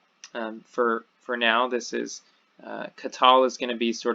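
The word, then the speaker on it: קָטַל: does share that so here we have qatal the accent is on the last I do this little caret kind of thing sideways care to show you that accent is on the last syllable in the second example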